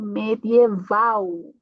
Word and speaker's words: medieval: E logo aqui temos uma L no final. L no final, então a pronúncia vai ser como medieval. Como uma U, tá? Medieval.